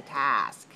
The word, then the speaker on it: task: a test for us i don't say test i say task watch my mouth watch my mouth watch my mouth my mouth yours and my okay hold your mirror and go this task okay you're looking in your mirror task all right and that's different from this one watch me test test test task task task so a task means